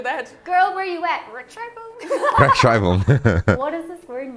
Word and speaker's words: Rechtschreibung: Rechtschreibung. If you put them together in a word, they make one different sound. Mm. It's not E, it's I.